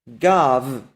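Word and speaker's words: גב: This Hebrew word is pronounced as gav.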